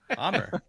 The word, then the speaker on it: Amr: You just mispronounced his name. What do you mean? Amr. We were just talking about that, but I'm good. You said it as Amir.